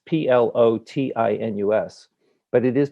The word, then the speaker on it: Plotinus: the course comes from is that plotinus it's p l o t i n u s but it is pronounced plotinus um lived in about the second